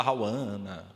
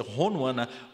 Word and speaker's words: Honwana: coisas mais disparatadas né falar rauana mas tá tudo errado né Esse nome tem variações lá em Moçambique pode ser rouana mas em geral pronúncia certo bem primeiro poeta de